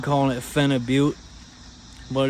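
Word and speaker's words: phenibut: at Walmart it's a dietary supplement it's called fenib but it's got a weird name I I like calling it Fen aute but it's spelled p h e n i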